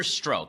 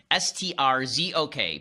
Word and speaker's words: Strzok: There's an agent named Peter Strzok. I think that's how it's pronounced. S-T-R-Z-O-K. Peter Strzok.